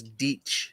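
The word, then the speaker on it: dīc: the word that they would have used was ditch, D-I-C, but the C is pronounced as a ch, so more like a it's just a big Like, earthwork that you it's hard to attack through.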